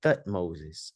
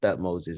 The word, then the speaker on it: Thutmose: But we had a real Pharaoh named Thutmoses, a real person named Thutmoses. Thutmose, not Thutmoses.